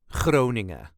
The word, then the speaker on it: Groningen: Also, the N at the end of Groningen is often not pronounced. So just Groningen. I live in the province of Groningen.